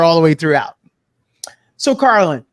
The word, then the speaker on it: Carlynn: name a bit different so it's called Carlin instead but of course people commonly uh mispronounce my name and instead they'll say Carolyn so I'm used to